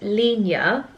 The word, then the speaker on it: Linjer: here they are so the brand is called Lena is how you pronounce it um it's spelled l i n